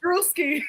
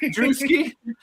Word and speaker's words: Druski: Duski. Druski.